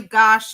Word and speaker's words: Gosch: It's Johnny Gosh is spelled Gosch.